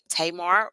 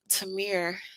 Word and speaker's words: Tamir: particularly when you have tamar rice uh i think i said his name wrong earlier tamar rice mom's tamir tamir rice uh not tamar i'm thinking about tamar not tamar tamir rice mom's come coming out basically